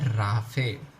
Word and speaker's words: raphe: इसका भी एक इम्पॉर्टेंट रीज़न है, because this much extended part जो है उसको हम कहते हैं राफे स्पेलिंग क्या हो जाएगा, RAPHE।